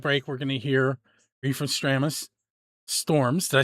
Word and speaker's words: Refestramus: Um during that break, we're going to hear Reef from Stramis Storms.